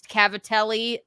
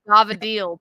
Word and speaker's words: cavatelli: it I don't like how you say it's Cavatelli but you say no that's how an that's